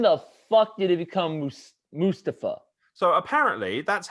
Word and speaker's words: Mustafa: Mustafa Ali, you could have potentially been one of